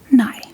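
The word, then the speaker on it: nej: And moving on to the next word, it's nigh. So it's spelled N E J N.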